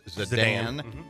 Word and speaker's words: Zidane: Correct pronunciation is Zidane. Zidane.